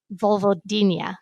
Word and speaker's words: vulvodynia: that you thought you had a condition called Vulvodynia. I want to make sure I'm pronouncing that correctly.